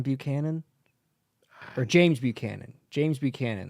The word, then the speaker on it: Buchanan: or James Buchanan James Buchanan they tried pronouncing his name and he was like he said like bu banan or some dumbass [